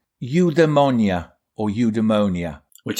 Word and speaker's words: eudaimonia: So Greeks would pronounce it eudaimonia.